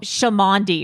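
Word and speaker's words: Cholmondeley: the Marquee uh but I heard that it's pronounced something uh less classy than that uh like oh shami or something like that shami sh oh shami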